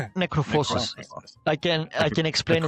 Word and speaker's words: Necrophosis: Necrophosis.